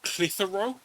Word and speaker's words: Clitheroe: I mean, there's one that's, if you saw it written, you would giggle, because it's called Clitheroe, but it's spelled Clit Hero.